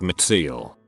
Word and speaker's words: Mitziel: It's pretty difficult living life with a name like Mitziel. Pronunciation: Mitt, as in Mitt and Mitt Romney. Sa, like in saw or sauce. L, just like you say the letter L.